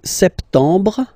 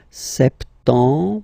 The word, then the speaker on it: septembre: So, septembre, septembre, septembre. Remember this E-M en septembre. Br, br. You don't insist on the final E.